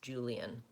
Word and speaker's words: Julian: know right away it's Julianne and so they'll know my name correctly so I would just slow down and say Julian with three syllables and make sure you